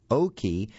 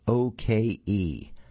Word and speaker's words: Oke: Next, let's take a look at a book called Unyielding Hope by Janet, or I think it's probably pronounced Jeanette Oke, and that's spelled O-K-E.